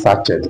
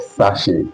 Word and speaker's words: sachet: From now on, don't pronounce sachet anymore. It is called sachet.